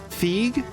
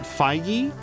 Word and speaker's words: Feige: me based on so I've always heard it pronounced like Kevin um Kevin um Fe but then I started hearing people call it feige I will say that